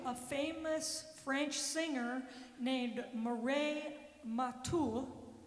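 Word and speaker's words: Mireille Mathieu: but in 1982 a famous French singer named Murray matul it's not spelled that way but I looked up the pronunciation made it Famous by singing New York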